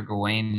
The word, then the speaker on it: Gawain: But it's got Sir Gawain in it.